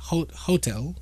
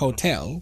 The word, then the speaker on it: hotel: example, saying something that my students constantly say is hotel. I think it's, yeah, hotel instead of Hmm. hotel. Hmm. Right. Putting the stress in the beginning, and but